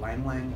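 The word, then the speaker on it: ylang-ylang: I read just earlier that something called Lang Lang oil, which is spelled Y-L-A-N-G.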